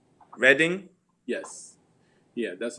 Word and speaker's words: Reading: town here she's my city what'd you say reading yes yeah that's like like you i mean of course it looks also like reading but most of the time like if you